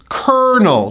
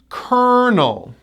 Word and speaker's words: colonel: We pronounce this word as kernel, 2 syllables. First syllable gets the stress. Kernel. Kentucky Fried Chicken, KFC, was founded by Colonel Sanders. Colonel.